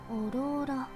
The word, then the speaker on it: Aurora: オローラ。 Yeah. She correctly pronounced it like Aurora.